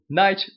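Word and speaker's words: knight: chefe muito Que bom night of Abis vocês sabem Não é esse k ele é mudo não é pronunciado é tipo faca em inglês Knife é porque o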